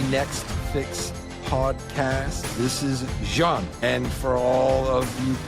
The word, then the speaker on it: Jeanne: This is Jeanne, and for all of you people in the United States as ignorant as me, it is not Jeanne, it is Jeanne.